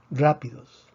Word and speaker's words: rápidos: Rápidos, rápidos. Rápidos tiene 3 sílabas, termina en S. Predecimos que la fuerza debería estar en la penúltima sílaba. No está en la penúltima sílaba. Escribimos el acento de excepción.